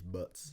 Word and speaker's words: butts: about as always she's butts yeah yeah butts i quite like butts because like yes you never pronounce the t if you were kind of referring to the slang that's because we have